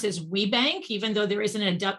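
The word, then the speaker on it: WBENC: the initials w b e n c we pronounce as we bank even though there isn't a there isn't an e after that w we bank w b e and c we pronounce this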